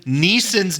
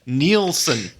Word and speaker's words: Neeson: with the exception that you keep pronouncing liam neeson's name wrong what'd i say nielsen neeson yes neeson so this film taken